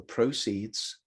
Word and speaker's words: proceeds: it's used okay so proceed in number two is used as a verb but the proceeds the noun stress on the first syllable as you've seen of